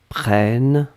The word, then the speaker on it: prennes: que je prenne eux que tu prennes e s donc on est d'accord qu'on n'entend pas le s mais si vous voulez écrire correctement vous devez écrire avec le s à la fin pnn e s après